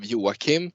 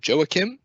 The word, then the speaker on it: Joakim: an international audience so instead of having the swedish uh pronunciation of yuwakim i usually go for joakim but from an inclusive